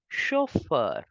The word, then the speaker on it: chauffeur: musician musici Musician musician we say driver as chauffeur driver as chauffer Au gives the sound of o c h gives the